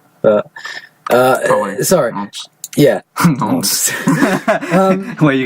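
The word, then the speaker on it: Nantes: Apparently, it's pronounced Nons, but sorry. Nons.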